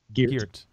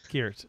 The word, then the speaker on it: Geert: Okay, first of all, it's Ghost of Geert. Geert. You say it wrong every time. Geert. Put some respect on the man's name.